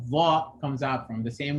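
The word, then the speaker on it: ظ: of your tongue, and it makes contact with the edges or the bottom of the front teeth.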